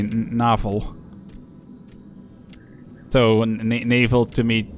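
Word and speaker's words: navel: sense na Naval uh like with the same same spelling different pronunciation is the word is a Dutch word for belly button but then you would say novel so Naval to me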